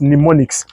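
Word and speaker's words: mnemonics: M ne right? M ne you don't need to pronounce pronounce the m just pneumonics, right?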